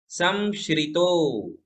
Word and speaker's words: संश्रितो: जब भी ऐसा श्र आता है तो उसमें शक्कर वाले श का ही उच्चारण करे। संश्रितो, संश्रितो, निरवकाशतया, निरवकाशतया, मुनीश, मुनीश, स्त्वं संश्रितो निरवकाशतया मुनीश।